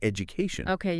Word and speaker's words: education: So like education, the stress is on co, right? Right before that embitation. Yeah. And it works the same way with ike. Like economic. Okay. The stress is on no before the ike.